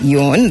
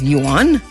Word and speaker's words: yuan: China official says digital yuan will be yuan, that is yuan, that's how it's pronounced.